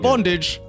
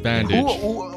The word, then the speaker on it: Bandage: bandage that is correct not bondage but it is bandage did he agree to